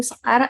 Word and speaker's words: Sekar: I'm Sekar. I'm from Indonesia. It's pronounced Sekar.